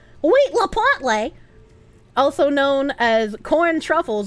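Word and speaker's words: huitlacoche: Huitalocoque, pronounced like wheat la potle. Wheat la potle.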